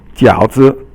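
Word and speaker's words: 饺子: You would think it's like fourth tone, but you actually pronounce it as silent. 轻声 is silent. So 饺子.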